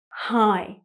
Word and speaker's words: high: It's a silent GH, high.